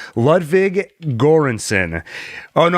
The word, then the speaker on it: Göransson: saying his name Ludwig göransson oh no I wrote down the pronunciation here Joran son I believe awesome score it has